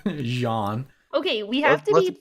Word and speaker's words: Jean: to bring people together is it jean or jean i know it's probably john everybody says we say it wrong so it's shawn but john okay we have to